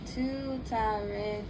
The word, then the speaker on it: Tuttare: TARE, Too-tah-ray, TURE, So-hah. That is her mantra. And I'm going to spell it out for you guys, okay?